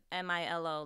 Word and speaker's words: Milo: M-I-L-O, like the Colombian chocolate. So, yeah, I mean, my cat, I just pronounce it Milo. But same thing.